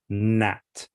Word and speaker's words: gnat: You don't you don't say gna or gnat. you say no, Nat, gnarly or nash.